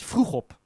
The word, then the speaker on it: Vroegop: It's Vroegop. It's not that hard, is it? It's Dutch, I know.